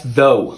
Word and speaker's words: though: How do you pronounce this word? Oh, yeah, that's though.